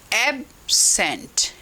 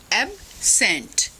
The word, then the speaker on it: absent: So it may be pronounced as absent, absent if it is noun।